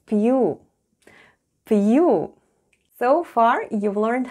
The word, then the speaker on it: пью: The first sound is P, then goes soft sign, and soft sign makes the preceding letter sound soft.